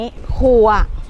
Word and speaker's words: คั่ว: มัน ได้ กลิ่น หอม อีสาน เอิ้น ว่า คั่ว ถั่ว ต้อง ลง ออก เสียง แบบ นี้ ขั่ว ถ้า คน ภาค กลาง